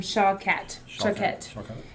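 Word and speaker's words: שקט: um is this the word rest is actually um pronounced shock um s-h-a-w-k-a-t um Shaw cat is how you would pronounce it um it means to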